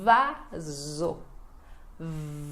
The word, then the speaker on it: vaso: E o S entre vogais que fica com som de Z.